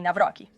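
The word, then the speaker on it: Nawrocki: Ele se encontrou com Carol Naurque, se estou pronunciando corretamente. Navroque. Sim, Navrock.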